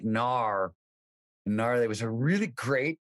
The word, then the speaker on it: gnar: is called Nar country Nar is spelled g-n-a-r it is Action Sports